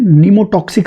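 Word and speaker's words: pneumotaxic: में जिसका नाम है निमो टॉक्सिक सेंटर निमो टॉक्सिक सेंटर यहां पर प साइलेंट है ठीक है और इसको हम प्रोनाउंस करेंगे नेमो टॉक्सिक देखिए जो रेस्पिरेटरी रिदम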